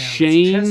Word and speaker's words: Shane: So close, Shailene. Yeah, it sounds sort of the same. Shane. It's pronounced Shane chess boxing.